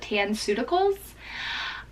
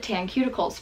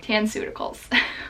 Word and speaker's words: Tanceuticals: absolutely loving lately called tan suta Kohl's I mispronounced it and called it tan cuticles for a while quarantines just it's just affecting me and my brain a lot okay tan suta khals so if you are